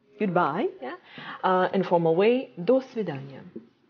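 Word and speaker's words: до свидания: vidania like meeting okay and their stress goes not on the other this yeah thing but on the word like svedanya okay um like this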